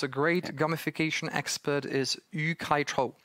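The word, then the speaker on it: Yu-kai Chou: mention maybe, Zdeňku, the source, because a great gamification expert is Yu Kai Cho. It's I will then maybe send the share link, but it's spelled YUKAICHOU.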